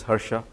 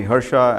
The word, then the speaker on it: Hara: who am I uh my name is Hara you pronounce it as Hara uh is my